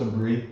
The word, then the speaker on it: Saber: It's pronounced Sabri.